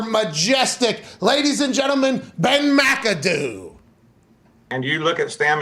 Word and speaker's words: McAdoo: the way it's pronounced, little C, big A, you know, that is kind of the Scottish accent way pronounced. It's not Mick, like others would say, because it's a vowel immediately after, or a capital letter immediately after.